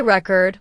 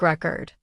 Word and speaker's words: record: For example, let's take the word record. If you say record with stress on the first syllable, it's a noun, like a music record. But if you say record with stress on the second syllable, it becomes a verb, like I record a video.